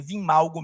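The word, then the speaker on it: Wim Malgo: Então, o Imalgo, ou Vimalgo, a pronúncia é Vimalgo mesmo. Ele é escrito W-I-M, Malgo, normal.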